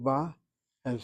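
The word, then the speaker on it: באה: The verb to come, as she translates the verb in the present tense, masculine singular, aniyatahu ba, and feminine singular, aniyati ba'a. Ba'a, you hit the last syllable.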